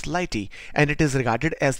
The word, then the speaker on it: Lighttpd: Now, if we talk of what is Lighttpd, it is basically pronounced as Lighty, and it is regarded